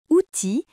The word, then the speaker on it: outil: Dans le mot outil, la lettre I et la lettre L à côté se prononcent.